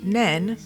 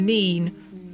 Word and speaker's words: Nene: At this point of the river, the name changes from Nen to Nene, even though it's spelt the same way.